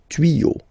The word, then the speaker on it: tuyaux: Des tuyaux. Same rule, you don't pronounce it.